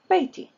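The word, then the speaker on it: بيتي: To make it my house, you suffix ya, and you pronounce it baiti.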